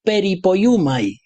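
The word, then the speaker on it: περιποιέομαι: y es una palabra un poco difícil de pronunciar. Se dice peripoyumai. Eh, si queréis un trabalenguas eh, teológico, soteriológico, aquí lo tenéis, peripoyumai.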